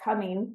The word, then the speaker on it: Cumming: by the way, FYI, our city is called Cumming, not Cummings. There's no S at the end.